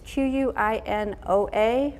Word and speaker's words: quinoa: rice aisle it's spelled with a Q it's q u i n o a but it's pronounced like quinoa you can cook this up